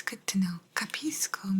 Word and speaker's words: capisco: it's good to know capisco means I understand that's why sometimes you might have heard like kapish mapishi and you'd say capisco I understand capisco capisco